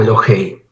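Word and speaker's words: אלהי: Elohim en estado constructo es decir se pronuncia eloh o elohei elohei abija el Dios de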